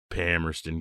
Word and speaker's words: Palmerston: and Palmer Pon yeah they don't pronounce the L okay which is true